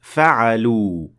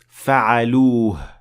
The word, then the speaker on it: فعلوه: Now here it sounded more like فعلوا, while it's supposed to be فعلوه.